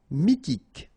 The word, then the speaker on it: mythique: Remember, Q-U at the end, K, okay, and then Y is pronounced like I. Mi, H is not pronounced. T, K. Mythique.